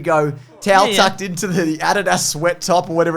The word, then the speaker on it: Adidas: In Australia, we say Adidas. We do. Because it's the correct way to say it.